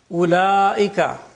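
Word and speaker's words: أولئك: Ulaika, the waw is not pronounced.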